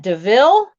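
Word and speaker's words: Deauville: that loop now how do you say that deville i mean that's how you say when it's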